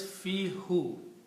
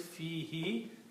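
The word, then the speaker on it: فيه: So the word is fi who. The meaning will be in it. But this, for the tajweed reason, because when we pronounce fi, we also pronounce this he, not who.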